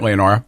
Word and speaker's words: Leonora: And am I pronouncing that right, Leonora?